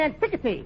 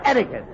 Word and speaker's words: etiquette: Yes you heard me you don't even know how to say the word etiquette you dope what do you me you mean Antiquity an no it's it's etiquette well etiquette anti it's